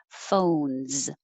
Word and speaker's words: phones: It's a single syllable word, but the O in English is stretched out longer and has an O-oo sound. O, phones. If it's too short, it will sound like phones, and that could sound like fun.